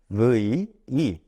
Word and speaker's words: move: 자, 그리고 하나만 발음상 하나만 더 체크해 볼게요. move move라는 단어 보이시죠?